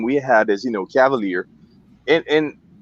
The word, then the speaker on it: Cavalier: i mean i have we have people in in in switzerland mispronounced the name for the past years and they've been smoking the brand for the past years and they still mispronounced the name they are chevalier or something i don't know it's cavalier so yeah it's i